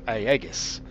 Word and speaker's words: Aegis: It's pronounced Aegis, or Aegis, or Aegis, or however Chris is pronouncing it this week.